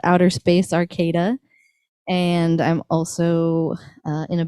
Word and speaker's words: Arcata: land but uh the the pronunciation of the city name would be arcada yeah so i don't